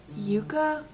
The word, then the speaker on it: Yuka: now I so I downloaded this app called Yuka that's how I pronounce it it's y u Ka a and